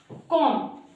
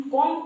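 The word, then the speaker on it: comb: Thumb हो गया हमारा अंगूठा कॉम कॉम यानी कि कंगना जिससे हम बाल काटते हैं वही। इसको भी जनरली हम रोंग प्रोनंसिएट करते हैं। हम कॉम्ब बोलते हैं।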